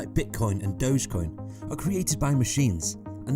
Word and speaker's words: Dogecoin: Consider the term dough, except with a J at the end. So why is Dogecoin so popular?